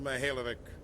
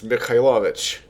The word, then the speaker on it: Mikhailovich: Rear Admiral Mikhaïlovich, 5th Fleet. That's not how you pronounce that. It's Mikhailovich. Come on now.